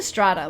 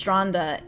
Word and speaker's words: stranda: I kept saying strata like in German, but it's stranda in Norwegian.